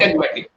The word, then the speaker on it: syntagmatic: how do we pronounce that? Syntagmatic.